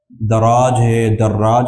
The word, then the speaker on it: دراج: پیدا ہوتا ہے کہ راوی کا تلفظ کیا ہے؟ دراج ہے، کہہ رہے ہیں کہ بتثقیل الراء، را پہ شد ہے، وآخرہ جیم، دراجن ہے، دراح نہیں ہے۔ ابن سمعان، ابو السمح،